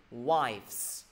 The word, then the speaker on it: wives: Mọi người nhớ nha, chứ không đọc là with nhiều người.